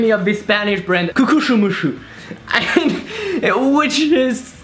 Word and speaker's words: Kukuxumusu: It's kind of remind me of this Spanish brand, Cucuchumushu, which is like written Kukuxumusu. Kukushumushu.